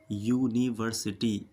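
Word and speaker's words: university: अब ध्यान से समझिए यू की जो ध्वनि यानी आवाज है वो या की आवाज दे रही है य यूनिवर्सिटी इसलिए यू से पहले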